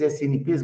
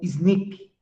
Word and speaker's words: SNP: a diferenças fenotípicas eh muita gente ao invés de falar snp eh pronuncia como snip então tem gente que fala snip Tem gente que fala snp eh a gente tem